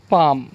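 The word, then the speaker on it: palm: क्या है, Simon, Simon और पाम। तो यहाँ पर जो एल की आवाज़ जो है वो साइलेंट है।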